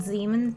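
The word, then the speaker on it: Zeeman: we see something called Zan zon Zan I've had so many classes and I've heard it pronounced both ways Zan I think it's zon zon splitting that's what I'm going to go with zon splitting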